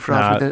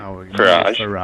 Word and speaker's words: Farage: Farage. F.A. Rage, yes. Yeah. Oh, nice. That's right. Do you know why it's not pronounced like garage?